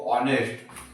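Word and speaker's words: honest: Same N लिखूंगा, okay, क्योंकि ये जो अवर है, ऑनेस्ट है, ये सब में एच जो है वो साइलेंट हो जाता है, ओके।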